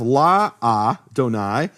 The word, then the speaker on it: Adonai: things here is that the first letter of Adonai is silent. Why is it silent? Because in Hebrew you have la-a-donai. So la-a, it's a contraction, just like you say in English cannot, becomes can't. It's a typical contraction.